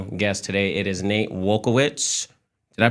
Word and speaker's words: Wielkiewicz: It is Nate Wielkiewicz. Did I pronounce that right?